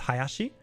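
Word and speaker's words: 林: So the kanji for tree but twice is pronounced hayashi or so it can be pronounced hayashi or ding ding.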